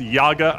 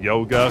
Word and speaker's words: Yaga: That certainly gets, and Chad has informed me it's Yaga. I keep pronouncing it Yoga because I'm just used to saying that. Like yogurt? Yeah, like yogurt, Yaga. Oh, well, I cast it